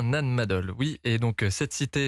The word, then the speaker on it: Nan Madol: de la cité antique de Nan Madol c'est comme ça qu'on prononce oui c'est bien Nan Madol oui et donc cette